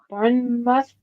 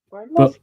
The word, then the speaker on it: Bournemouth: They're from Bourne. Bornemouth. Bournemouth. Bor Bournemouth. Bournemouth. As in Jason Bourne.